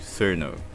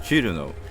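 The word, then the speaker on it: Chrono: It's like, you just take like a really common, popular character like Cerno. That's not how it's pronounced in Japanese. It's not really even written like that in Japanese. In Japanese, it's Churuno, and in English, it's like written like it's some weird, Italian thing.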